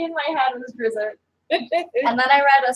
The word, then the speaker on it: Drizzt: So Dritz.